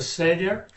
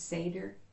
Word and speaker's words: Seder: It's called the seder.